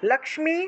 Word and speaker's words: লক্ষ্মী: আছে লক্ষ্মীবন্তম চমাম কুরু লক্ষ্মী এখানে ক্ষয়ের নিচে ম আছে কিন্তু সেজন্য লক্ষ্মী উচ্চারণ হবে লক্ষ্মীবন্তম চমাম কুরু রূপম